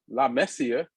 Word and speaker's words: La Masia: All this time I've been pronouncing La Masia the wrong way. It's La Messia.